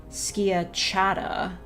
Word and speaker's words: schiacciata: Skitchiata. Okay, well... The Google is giving me a different pronunciation. Schiacciata. Yeah, that does seem more in line with how it's spelled.